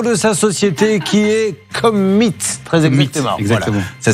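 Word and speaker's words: Commeet: correctement le nom de sa société qui est Commit. Très exactement. Exactement. Voilà. Ça s'écrit C-O-M-M-E-E-T-T.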